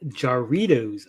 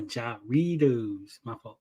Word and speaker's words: Jarritos: in the movie love it love it it's pronounced Jarritos ah Jarritos uh you know I don't speak housekeeper how